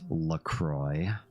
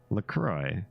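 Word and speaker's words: La Croix: it rhymes with joy lroy it rhymes with joy that's not how that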